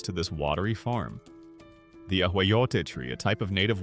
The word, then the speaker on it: ahuejote: As the Chinampa was being built, or shortly after its main structure of mud and vegetation was complete, young ahuejote, pronounced ahuejote, saplings or cuttings would be carefully planted along its edges, often at regular intervals.